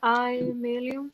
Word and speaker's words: Aemiliam: Así se pronuncia Aemilium.